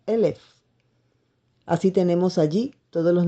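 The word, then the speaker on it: אלף: si equivale a 1000 se pronuncia Como elef así tenemos allí todos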